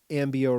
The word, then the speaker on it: Ambio: registered trademark and then Ambio rhymes with cambio, change in Spanish and we have a lot of change that happens.